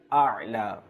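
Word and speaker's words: الأعلى: প্রথমটা হচ্ছে হামজা এবং দ্বিতীয়টা হচ্ছে আইন। প্রথমটা হচ্ছে কি হামজা এবং দ্বিতীয়টা হচ্ছে আইন। তো সেই জন্য আমাদের উচ্চারণ করতে হবে যে সুবহানা রাব্বিয়াল আ'লা, সুবহানা রাব্বিয়াল আ'লা। আ হামজা, আইন জবর আ।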